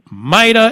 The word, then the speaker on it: MITA: pronounce the the acronym maida or maida we pronounce it maida Mida it is and might the governor have been